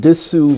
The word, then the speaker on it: dessous: And dessous means bottom, and it's spelled with a double S-O-U-S.